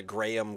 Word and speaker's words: Graham: There's no there's no two syllables even even though there's an h in the middle. G r a h a m. So there's an aha literally in the middle of the word and it comes out